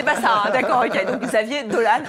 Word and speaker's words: Xavier Dolan: alors mais assure-moi il veut pas qu'on l'appelle Xavier doliprane non c'était pas ça d'accord ok donc Xavier dolane à 25 ans on en est sûr et